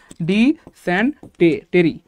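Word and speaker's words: dysentery: তাহলে আজীবনের সম্পদ হবে ডি সেন্টে টেরি ডি সেন্টেরি যদিও উচ্চারণটা হবে ডিসেন্ট ট্রি জাস্ট আমরা মনে রাখার সুবিধা এবার বললাম আর কি যে ডি সেন্টেরি যাই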